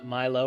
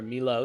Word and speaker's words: Milo: spoons of nestle uh milo or melo depending on how it's pronounced in your country and it's a a